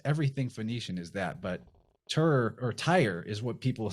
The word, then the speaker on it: Tyr: We say Tyr, T-I-R. It's phonetically looks a lot like the word that's spelled T-Y-R-E, which is a so-called Phoenician word.